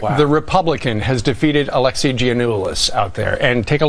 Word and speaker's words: Giannoulis: Just as we started to pronounce Giuliani's, see, I still can't do it. Giannoulis. Just as soon as we